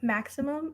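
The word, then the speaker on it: Maxicimam: so next up is maximum i know it doesn't look like you pronounce it as maximum but it is it's so funny to me uh but so maximum does everything pretty much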